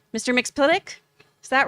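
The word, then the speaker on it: Mxyzptlk: Oh, I always say his name wrong. Mr. Mixplitic? Is that right in the Mixelplic? comic? Mixelplic, thank you.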